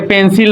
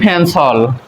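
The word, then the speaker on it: pencil: কিন্তু এটা হবে ফেন আমরা এটাকে পেন্সিল বলি কিন্তু এটা হবে ফেন্সল কি উচ্চারণ ফেন্সল টি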